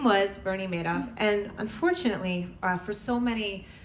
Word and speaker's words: Madoff: how do you pronounce is it mad off he says no it's Madoff like he made off with the victims money and I I could